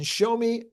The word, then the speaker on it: Xiaomi: Now, a few months on from the launch of the YU7, Xiaomi, I think that's how you pronounce it.